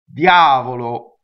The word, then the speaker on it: Diavolo: in this word and the eye is really as a semi vowel right it's not a y in it's not an English why yeah yeah it's from the e position Diavolo you understand see so